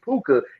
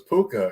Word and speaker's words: Puka: pooka's day I didn't know his name was puka you know I thought people were mispronouncing his name I was like is that okay but I I apologize it's poker I'm sorry right there that's sound like a